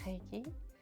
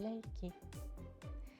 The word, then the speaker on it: Reiki: je l' en France c'est souvent appel Reiki mais chez nous au Japon on l'appelle leiki vous allez voir la